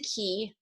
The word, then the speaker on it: QI: I pronounce it key intentionally when I was coming up with a word to use, because it sounds like KEY.